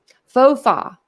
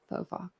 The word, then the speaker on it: faux pas: Faux pas.